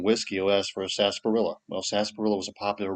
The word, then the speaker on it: sarsaparilla: early America was uh sasparilla. Sasparilla, the oddly spelled herb. It's spelled like sars sapperilla and some people say sarpilla.